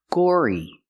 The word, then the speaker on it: gory: and violence that's gory use the or sound like door and floor Gore plus the long e gory you're fascinated by the